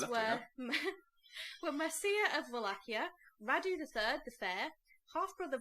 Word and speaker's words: Wallachia: Yes, Because you pronounce Wallachia several different ways now. Is it a V or is it a W? it's a V. Wallachia.